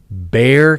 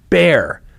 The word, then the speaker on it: Bexar: things now officials with Bear County and I I say that because it's spelled b-e-x-a-r but it's pronounced bear I remember this from